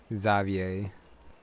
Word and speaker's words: Xavier: now never mind I I keep forgetting that's how you pronounce the name zavier oh why if it